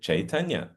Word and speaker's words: Caitanya: nine book set called Caitana can you say chaitana and then they say